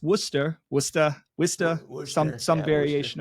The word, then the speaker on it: Worcester: 99% of the country you would read it phonetically as Worchester and I did that